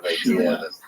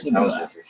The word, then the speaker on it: shibboleth: In Gilead, people would pronounce this word with a sh sound on the front of it, so it would be pronounced shibboleth. But in Ephraim, they didn't say the word with the aspirated initial sound, and so they just used an S sound and said Sibboleth.